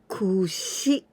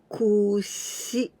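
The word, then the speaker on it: くし: Kushi. Kushi. The intonation, kushi, not kushi.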